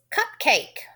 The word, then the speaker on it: cupcake: Don't forget that A needs to say its name, so I need to add the E. Cup, cake. I'm going to scoop that syllable. The E is silent.